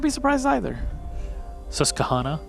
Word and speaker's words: Susquehanna: Susquehanna, I was told. That's how you say it. If you say so. Someone wrote it, tweeted it at me, and I'm not really.